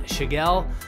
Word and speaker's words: Tschigerl: season our last conversation today is with sean shigell if you looked at his name you would not think it was actually pronounced the way it is given how it's